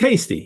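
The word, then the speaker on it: Hastie: the jaal thing yeah I don't know how to pronounce Dr lanyon's name and I love it but I don't Hasty oh it's Hasty yeah Hasty lanon yeah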